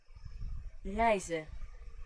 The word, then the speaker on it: reizen: Reizen. Oh, it's I. Oh yeah, because IE and EI make two different sounds.